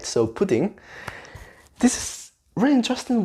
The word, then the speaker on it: pudín: Pudding, pudding, instead of pudding, pudding, pudding. Or even pudding with the p sound, but pudding, the stress is in the e sound there. So pudding, pudding, pudding, pudding.